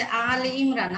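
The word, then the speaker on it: آل عمران: সূরা যে আলে ইমরান, আমরা ওটা আসলে সঠিক উচ্চারণ করব কি?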